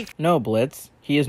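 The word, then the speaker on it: Blitzø: Oh, that slimy little While being left to rot in prison, Moxie ends up meeting Blitz, the O is silent, and as such, Moxie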